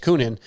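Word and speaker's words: Coenen: Koonin, I think is how you say it. Koonin.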